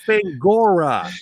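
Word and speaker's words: Fangoria: It's Fangora. Yes, not Fandango."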